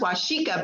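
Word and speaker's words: Waseca: It's W-A-S-E-C-A, Waseka. It's pronounced Washika, but it's Waseka.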